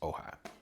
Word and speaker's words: AOHI: I've been using Ohigh for a long time, and it is spelled A O H I, but pronounced Ohigh.